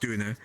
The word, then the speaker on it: Döner: Doner kebabs are meant to be pronounced Döner.